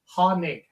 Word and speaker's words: Hoenig: a hanig A hoig or what but it's hanig Hond is with us one of the